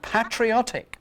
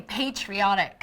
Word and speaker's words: patriotic: Oh, with the and patriotic. Patronize. Oh, no, we say patriotic.